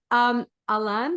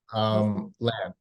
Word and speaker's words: Lan: Now, Alan, that's how we say his name. Yeah, you can just, good morning, by the way. It's really nice to meet you. Lan.